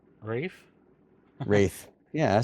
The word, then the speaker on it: Wraith: they want to do like a 5v5 the wraiths, and it's just nothing but the jungle, and